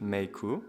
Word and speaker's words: Meike: Hey guys, so today I'll be taking a look at the Meike 25mm f1.8, and apparently that's how you pronounce it, Meike, according to this guy, which I will flash up on the screen right now.